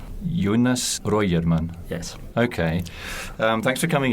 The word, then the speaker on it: Röjerman: Jonas Röjerman. Jonas Röjerman.